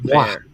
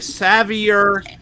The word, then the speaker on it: Savoir: It's Savoir Savoie. Savoir Savoie. Savoir. It's French. Savoir. Yes. Savoir. Man, I see these people doing case breaks and stuff. They're like Savior, Savor.